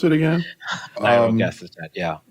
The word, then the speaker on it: nirogacestat: How do you pronounce it again? Nirogacestat, yeah.